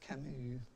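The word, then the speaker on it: Camus: living there's a philosopher named uh Camu uh pronounced Camu it's a FR um Alber Camu C uh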